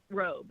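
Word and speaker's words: Roob: The new head honcho though, what Mitch Rub is his name, right? Robe. Yeah, Robe. Well, it's spelled R O B.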